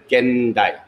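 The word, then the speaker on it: 現代: is sien thai oh in japanese it will be pronounced as gen dai gendai but here we have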